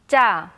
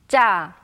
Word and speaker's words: 짜: Please listen carefully to the accurate pronunciation. 짜, 짜, 짜.